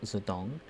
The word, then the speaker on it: Zedong: are not familiar with ex-Chinese chairman Mao Zedong, sometimes romanized as Mao Zedong, but it's still pronounced Zedong.